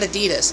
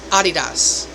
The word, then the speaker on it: Adidas: Adidas sneakers it's not Adidas it's Adidas Aldi is Aldi I mean it's just subtle changes in pronunciation but they're German companies German Brands so they're like um